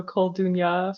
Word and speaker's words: Koldunya: I say Kolduni, so Koldunya for female sorcerers, and then Koldun for a male sorcerer.